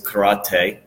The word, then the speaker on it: karate: karate okay and that's the proper way of pronouncing is karate is they say karate duh and what that